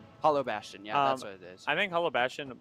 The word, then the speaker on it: Hollow Bastion: And we are going to I cannot pronounce this stage. Hollow Bastion. Hollow Bastion.